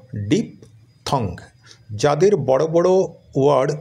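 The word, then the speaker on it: diphthong: শব্দটা উচ্চারণ করতে পারো যেমন ডি আই পি ডিপ এটা তোমরা জানো আর টি এইচ এ হয় কি থ সি ও টি কট যদি হয় তাহলে টি এইচ ও টি থট হবে বি ও এনজি বং যদি হয় তাহলে টি এইচ ও এনজি থং হবে তাহলে ডি আই P deep T এইচ ও এনজি থং তাহলে উচ্চারণটা হলো ডিপ থং যাদের বড় বড় ওয়ার্ড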